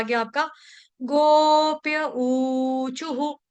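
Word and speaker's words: ऊचुः: छोटा हु, यानी कि विसर्ग का उच्चारण हम हु के साथ करेंगे। क्यों? क्योंकि विसर्ग से पहले चू है, इसीलिए हम करेंगे हु।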